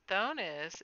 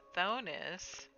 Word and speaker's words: Thonis: Notice Thonis is phonetically the same as Tunis. Thonis, Tunis.